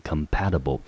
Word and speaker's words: compatible: 好，三个音节，中音节落在第二个音节，所以这个字念成 compatible。